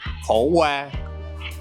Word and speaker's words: khổ qua: There's 2 versions. There's in the south, it's khổ qua. Yeah, and in the north, it's múp đắng. Yeah, but khổ qua here. Khổ qua, yeah.